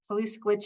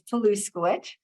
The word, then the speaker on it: Poluskowicz: Poluskowicz is spelled the exact way it sounds, Poluskowicz.